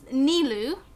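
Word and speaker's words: Nilou: the game's pronunciation rather than like real life pronunciations, I guess. And it's Nilu for the redhead dancer girl, and then there's Sino, obviously.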